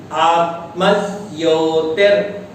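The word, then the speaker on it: आत्मज्योतिर्: यदि हम दोनों को अलग अलग करेंगे आत्म ज्योति तो सही उच्चारण नहीं होगा। सही है आत्मज्योति ही। यहाँ गौर कीजिएगा, मैंने विसर्ग पढ़ दिया था। संधि करने पर पृथक पद करने पर तो विसर्ग आएगा, पर सम्मिलित उच्चारण में विसर्ग के स्थान में संधि नियम से र हो गया है। अतः इस प्रकार पढ़ें, पुनः सुने।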